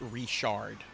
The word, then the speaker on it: Richard: Uh, here it's pronounced reshard.